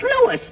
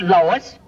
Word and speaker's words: Louis: Me name is Louis, not Lois. Jake Wiz. Everybody interpolates me name wrong. It's Louis.